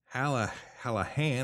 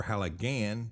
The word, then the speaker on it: Halligan: Well, what little we have dug up already tells us that Hallahan or Halligan, depending on how you pronounce it, that's spelled with a G-H, is a name that's traditionally given in counties Cork and Waterford.